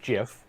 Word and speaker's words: GIF: all you meant yeah you meant GIF because it is pronounced choosy mothers choose no second of all